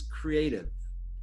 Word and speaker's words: CREATV: guys were all wondering how you pronounce the name it's creative so creative university and